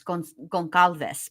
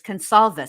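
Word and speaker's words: Gonçalves: Spanish and being Mexican, I want to say it like this gonalves. But that's they don't pronounce it that way. It's consol, right?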